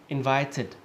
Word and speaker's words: invited: So for example, invited. Okay, notice how it sounds like an ID instead of an ED.